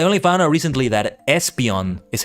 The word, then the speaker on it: Espeon: pronunciation but with Espeon I like it because I realize it's supposed to come from esper that psychic part right so Espeon anyway the other three